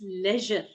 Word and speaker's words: leisure: बच्चे इट्स लेजर। लेजर, लेजर, यस, you have pronounced correctly, लेजर।